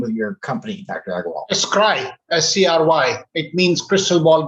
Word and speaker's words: Scry: Alok Aggarwal, who is the founder of, how do you pronounce the name of your company, Dr. Aggarwal? Scry, S-C-R-Y.